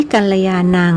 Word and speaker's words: กัลยาณัง: กัลยา นัง และ อภิปูชะยามิ มัก ออก เสียง ยา เป็น ญ้า หรือ นะมามิ ออก เสียง มา เป็น ม ซึ่ง ถือ ว่า ผิด เพราะ ภาษา บาลี ไม่ มี วรรณยุค เอกโทตรี จัตวา เหมือน ใน ภาษา ไทย นอก จาก เน้น ความ